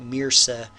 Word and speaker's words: MRSA: it's called mrsa so a lot of times in the news they pronounce it mirsa or similar to mirsa it's a dangerous pathogen